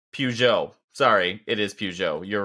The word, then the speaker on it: Peugeot: when they merged Fiat Chrysler that's right with Pugo it's pronounced Peugeot Peugeot sorry it is Peugeot you're right I know that nope you're right